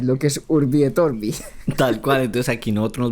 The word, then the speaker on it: Urbie Green: Y se pronunciaría como, ¿cómo se pronunciaría? Orbi. Pues sí, Urbi Green.